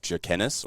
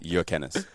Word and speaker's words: Jurkenas: name gets the bus dies Australian version of Joe Kennis or jerk and ass if you're in high school the correct pronunciation is your canis yeah so um quick quick one I've got